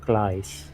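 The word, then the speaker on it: Klaas: Is it Clays? Indeed, because the A is pronounced A in Dutch. So there you go. say A, you say A, Klaes.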